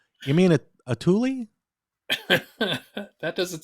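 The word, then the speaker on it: Thule: I always called it th but it's actually pronounced Tuli so I don't know well that's the name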